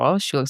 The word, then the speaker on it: Schulich: Schulich, so it's pronounced Schulich School of Business at York School of Business, York University.